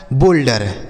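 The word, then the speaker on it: boulder: बी से हो गया दोस्तों बा, इस ओ यू का उच्चारण ओ की मात्रा, एल से हो गया आधा ला, डी ई से ड, आर से र, यह लिखा गया आपका बोल्डर।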